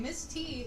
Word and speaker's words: Miss T: he clarified by saying Miss T is pronounced the same as Misty who was replaced with